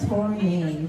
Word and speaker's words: Tornai: So my name is Tournay. That's with an H, and it's spelled Tornai.